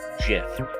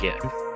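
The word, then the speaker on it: GIF: make it right that's why it's Jif not get sorry dude who invented the thing calls it a chip also deal with it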